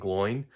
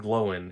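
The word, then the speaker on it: Glóin: of the rings and it's always been oine and gloin and andy circus chose to pronounce it as owen and glowin and i was just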